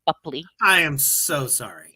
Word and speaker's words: Boepple: It was Johnny Depp, you know, razzing B Bupley, before my scene, and that's how you pronounce it, by the way, Bupley.